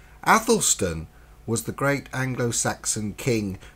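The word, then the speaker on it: Æthelstan: in the role of Athelstan pronounced lysis to square for American listeners addlestone was the great anglo-saxon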